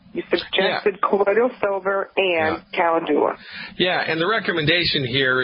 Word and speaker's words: calendula: So the recommendation here, there's a botanical medicine called calendula. Calendula is the correct way to pronounce that. Calendula, Latin's a funny language.